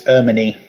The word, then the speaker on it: Hermione: Linda says I can't believe that Hermione has gone. Is that how you pronounce the name? Peter should It's a win. silent H. It's Ermini.